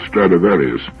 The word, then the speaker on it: Stradivarius: Ask anybody if he's ever heard of Stradivarius, which is the Latin pronunciation of the name.